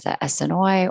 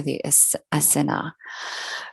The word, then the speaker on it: Essenes: the hebrew mystic sect the essenes sometimes pronounced as the snoy or the asina greg braden is if